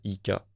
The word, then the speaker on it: Cinezik: Comment ça Et s'écrit pas que française, Cinésique. Avec un Z. C'est, ouais. Ok. Cinezik.